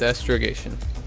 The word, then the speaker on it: astrogation: How do you say it? Astrogation? Yes, astrogation. Astrogation. Alright, committed to memory. Astrogation. Never mind. Yeah, okay. Rhymes with playing Parcheesi. So astrogation.